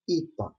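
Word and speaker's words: ήτα: the Greek mythology IR this letter is uh pronounced e like Easter the capital letter it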